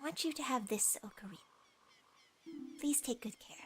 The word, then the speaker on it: ocarina: Actually, it's pronounced Ocarina. What? I've never heard that. I've never heard anybody say Ocarina.